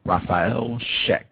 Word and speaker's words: Raffael Scheck: uh our guest for today's program uh professor rafael sheck uh professor sheck are you with us yes thank you outstanding am i pronouncing your name correctly sir oh that's perfect